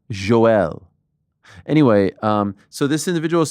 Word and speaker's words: Yoel: Okay, so first I thought Yoel Romero's on the card. I believe it's pronounced Joel.